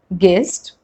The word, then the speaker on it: guest: U is not pronounced when it comes after G and before a vowel. Like in these examples, guess, guest, guild, guilty, guitar, guide, guidance, guard, and even dengue.